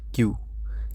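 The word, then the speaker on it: キュ: এটা কি কিয়া, কি যুগ ইউ, তাহলে কি হবে কিউ, কিউ। কি যুগ ইয়, কিয়, কিয়, তাহলে কি হলো কিয়া, কিউ, কিয়, কিয়া, কিউ, কিয়।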